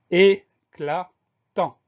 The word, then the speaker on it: éclatant: Et on a également une lettre muette, le T muet à la fin du mot, qu'on va retrouver dans éclatante au féminin.